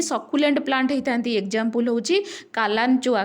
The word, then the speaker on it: Kalanchoe: Example होची कालांचोआ। कालांचोआ spelling KALANCHOE कालांचोआ, सिडम SUDUM, अफुनसिया, पाइनापुल।